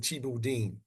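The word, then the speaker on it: thieboudienne: u d i e u n and they pronounce it chibu Deen yeah yeah that's good like see that's good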